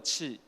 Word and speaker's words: Qi: We call that this standard we call that is a QI you can pronounce like a chi and the first drawback is they have very short charging distance.